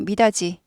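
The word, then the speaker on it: 미닫이: 있 있는 건데요 예를 들어서 미디 하지 않고 미다지 다 지로 발음 되죠 g 발음 나죠 디이 지요 바람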